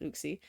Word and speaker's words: Uxie: Also could be pronounced as Yuxie, but I pronounce it Uxie.